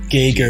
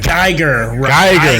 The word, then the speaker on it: Geiger: Like with the G. Geiger. Yeah. Geiger.